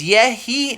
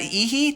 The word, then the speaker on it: Yehi: My name is Yehi, not Ihi.